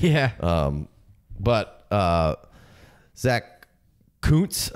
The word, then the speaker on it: Kuntz: But Zack Kuntz. I'm gonna go with that's how you pronounce that because the other pronunciation would you know Mike the F. CC might there's a called.